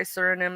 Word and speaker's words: Suriname: Suriname. So that's probably SR. That's probably the abbreviation for that country. I bet Hmm. if I say Suriname, it's gonna sound country.